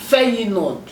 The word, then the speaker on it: Feyenoord: So you pronounce the name safe. Feyenoord.